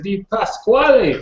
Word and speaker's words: DiPasquale: who we have today yo NM sell deep pass flooding how are you sir you can pronounce thank you very much for pronouncing my